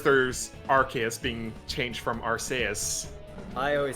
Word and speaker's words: Arceus: is because our sp why would they care if it sounds like arse in japanese that's true why is